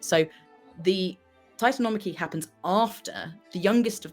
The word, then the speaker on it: Titanomachy: And it is the Titanomachy. Titanomachy? Which is how you say it.